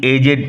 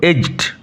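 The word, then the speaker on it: edged: দাঁড়িয়ে রইল স্লোলি হি এজেড forward slowly হি age forward উচ্চারণ লক্ষ্য করো এজড এজ কথার অর্থ হচ্ছে কিনারা দেখো এইজ কথাটা কিভাবে ভার্ব করা হয়েছে ডি উইল রিমেন সাইলেন্ট এখানে ডি সাইলেন্ট থাকবে স্লোলি হি এজড ফরওয়ার্ড।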